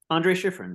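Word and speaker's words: André Schiffrin: the introduction starts with help me with the pronunciation Andre schiffren Andre schiffrin yeah right so he was fired in 1990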